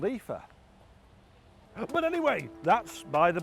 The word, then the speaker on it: IFA: But the only problem is I've been saying IFA all wrong. It's not called IFA, it's called Epha.